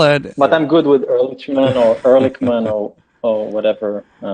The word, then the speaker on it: Erlichman: i make sure yes my name is erlichmann there i like how you say it yes yeah in hebrew ch is a so yeah okay i'll